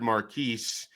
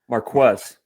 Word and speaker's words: Marquez: Marquez. So, okay, so you're the closest. Marquez. Yes. Okay, so it's not Marcus, it's not Marquise, it's Marquez.